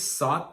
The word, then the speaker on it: sought: Just remember that when you're pronouncing these past and past participle forms of these verbs, that the sound in the middle is ah, like in hot water.